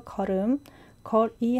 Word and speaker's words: 걸음걸이: 그리고 발음은 걸음할 때 음의 이응 자리에 걸의 리을 받침이 가서 걸음, 거리 할 때 걸의 리을 받침이 이의 이응 자리로 가서 거리 해서 걸음거리라고 발음합니다.